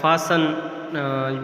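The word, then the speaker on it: fasten: Clonal, इसी तरह फासन में जो है T साइलेंट है।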